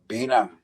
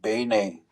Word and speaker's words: Bine: u they came down to a place called Beina which is how they pronounce it now. That's a English pronunciation. We call it Bay, which is means partridge in the Ojiua language.